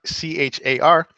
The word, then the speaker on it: char: that is simply CHR ch AR and it's typically pronounced char even though it's short for character character literals are enclosed